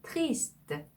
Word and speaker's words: triste: 네, triste, triste 이렇게 발음하셔야 되고요.